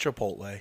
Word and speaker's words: Chipotle: want some chipot yeah no it's pronounced Chipotle but go on hey